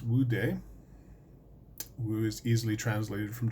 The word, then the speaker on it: Wu De: on to explain a little bit it is pronounced would de who is easily translated from Chinese and stands